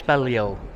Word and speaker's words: Balliol: this on I've asked how to pronounce the name of the college and it's Bello so there you go